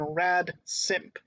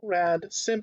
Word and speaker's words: radsimp: up its sleeve and that's the uh function rad simp okay rad simp spelled like this r-a-d-s-i m presumably short for radical